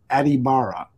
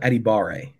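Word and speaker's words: Adebawore: phonetically spelled out Adetomiwa Adibara. Did I get it close at least? Adetomiwa Adibare. There you go, Adibare.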